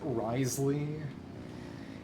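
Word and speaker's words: Wriothesley: Because I know in the English dub they pronounce it Risley. In the Japanese, it's Ryothesli. I mean, in the end... Silly name. I'll just say Rethesli, which is one of the quote-unquote accurate pronunciations, as in ones with some degree of historical attestation.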